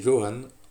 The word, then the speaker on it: Johan: Donc, moi c'est Johan, mon prénom, avec un J qui se prononce, beaucoup de doutes.